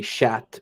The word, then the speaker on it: chat: so is c-h-a-t but you don't pronounce the T when it's a guy but you pronounce the